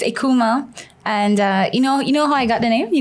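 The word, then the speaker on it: Eucheuma: cosmetics um and um so it's spelled e-u-c-h-e-u-m-a akuma but you know when you when you spell that phonetically like how we do in korea it would be like i-k-o-m-a my mom's in like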